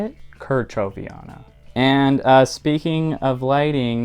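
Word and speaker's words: kerchoveana: This is my Maranta leuconeura Kochaviana, I think is how you say it. Kerchoviana.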